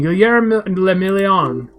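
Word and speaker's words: Guillaume le Million: For Ravachel, your city, that meant only one thing, Guillermo le Million. If it doesn't rhyme, you're not pronouncing it right.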